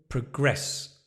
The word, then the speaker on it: progress: When the progress, yeah, when it's a verb, you stress the second one, Nicola.